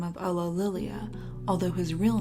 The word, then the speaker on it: Ulillillia: Ulillillia, there you First go. glance, it seems That's how you rather pronounce on it.